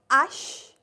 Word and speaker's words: h: not g it's j ash e e French people don't know how to speak h say uh that in most of the cases h is silent so it is ash wait a repa A